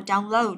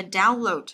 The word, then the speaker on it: download: Đấy, cô phải lưu ý ở đây là động từ thì rơi vào âm thứ hai, còn danh từ thì nó sẽ rơi âm đầu tiên. Đấy, chứ là động từ chúng ta đọc là download, download âm thứ hai. Còn nếu là danh từ là download, các bạn nhớ nhé, chú ý.